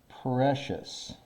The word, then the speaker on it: precious: have difficulty pronouncing because it has a C-I-O-U-S. This part right here is a fourth grade pronunciation. Precious. So this is S-H-U-S. Shus. That's the kind of sound.